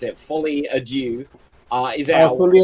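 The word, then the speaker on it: Folie à Deux: for Joker 2, I can't even pronounce it, Folie à Dieu, is out. Folie à Dieu. Foie à deux. French guy can. Let Dave pronounce it.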